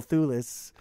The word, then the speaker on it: Thewlis: And also, just so you know, they do have Fagin in it, and he's played by Daniel Thewlis, which is awesome.